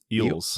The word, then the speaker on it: Elwes: Eels. Ewells. Kind of like Mew, but without the M.